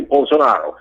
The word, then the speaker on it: Bolsonaro: Brazil okay bolsonaro okay his name is j bolsonaro the the correct pronunciation J bonaro okay the guy on